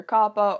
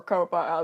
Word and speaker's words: COPPA: So what exactly is the Children's Online Privacy Protection Act, aka Coppa, or Coppa as it's also been pronounced?